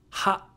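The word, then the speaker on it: は: Ha. Ha is pronounced like ha in ha ha ha, like laughing.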